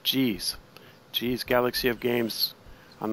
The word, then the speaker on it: Geez: She told me you pronounce that Geez.